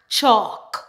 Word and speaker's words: chalk: If we have the combination ALM, ALF, and ALK, typically the L in the word is silent.